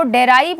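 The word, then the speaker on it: derive: डेराइव में आपने देखा, मैं अगर डेराइव पढ़ रही हूँ तो आपने देखा ये जो ई का साउंड है ये मैं इंक्लूड नहीं कर रही हूँ बोलने में, प्रोनाउंसिएशन में ये ई का साउंड इंक्लूड नहीं हो रहा है, ई का साउंड बाहर हो गया।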